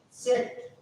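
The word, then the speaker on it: zett: We have this letter, and we call this letter as sit, sit, sit, sit, sit. Little sound of ta, sit, sit, sit, sit, sit, sit, sit, sit, sit.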